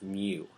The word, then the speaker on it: mu: That black vertical line, signified by a backwards U or a U-looking thing, is pronounced mu.